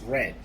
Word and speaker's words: read: i will read and the pass for read is red it has the same spelling however different pronunciation r-e-a-d read for present and past is red therefore if we are